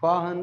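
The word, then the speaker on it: Fa-Hien: बेटा ये फाहन नाम है इसका ना, इसमें FA है पिलग्रिम का, और HUEN है, फाहन इसको पढ़ते हैं।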